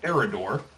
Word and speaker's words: Eredore: You find out that the guy completely mispronounced it. It is the Shrine of Eredore.